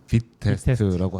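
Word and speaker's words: Vitest: 그렇고네 비트 테스트는 뭐예요 VI 테스트 이렇게 쓰는데 발음은 빛 빛 테스트라고 하시더라고 테스 근데 그 그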